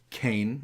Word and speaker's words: Qayin: in this person, and his name is spelled Qayin, but it's pronounced the same way as Cain, and they make reference that he's named after the first murderer in the world.